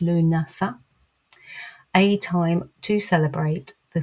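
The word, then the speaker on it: Lughnasadh: Lunasa or Lammas arrives 31st of July, 1st of August, pronounced Lunasa.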